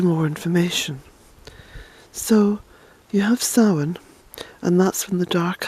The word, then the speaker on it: Samhain: Samhain, that's Samhain, and it's pronounced Samhain.